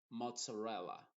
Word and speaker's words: mozzarella: donde no se dice Pizza sino que se dice pizza y mozzarella mozzarella te das cuenta ahí se dice con una t y una s mozzarella y pizza y